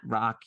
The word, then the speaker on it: Rak: me personally I'm at rock your life rock is spelled r-a-k by the way short for my first name Rakesh but uh pronounced Rock so you can find